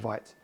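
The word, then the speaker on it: Vite: And yes, I pronounce it Whagt.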